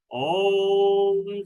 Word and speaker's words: ओम: दीर्घ ओम में ओ और म दो और एक के अनुपात में भरे गहरा लंबा सांस।